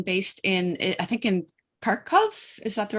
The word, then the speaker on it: Kharkov: You have an American based in, I think, in Kharkov. Is that the right Yes.